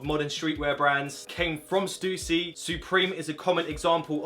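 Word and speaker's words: Stüssy: It's actually pronounced Stussy, by the way.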